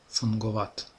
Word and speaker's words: fungovat: Следующий согласный это г. Встречается не очень часто, только, как правило, в заимствованных словах. И читается как обычный г. Fungovat.